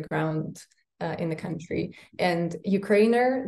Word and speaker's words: Ukrainer: And Ukrainer, that's how you pronounce it, you don't have to say Ukrainer.